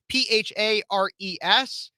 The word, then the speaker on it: Phares: Phares, last name spelled Phares. I know it sounds like Ferris Bueller or something like that. And while I'd love to have a day off, it's actually spelled with a PH, Phares.